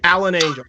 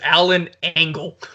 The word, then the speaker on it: Alan Angels: Alan Angels, that's his name. Alan Angels was fucking great. Chris Jericho kept pronouncing it as Alan Angle.